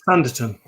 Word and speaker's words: Sanditon: How do you pronounce it, Chris? Sanditon.